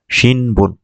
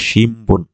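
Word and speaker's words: 新聞: সংবাদপত্র হচ্ছে হচ্ছে শিনবুন, কিন্তু এটা উচ্চারণ হবে শিমবুন।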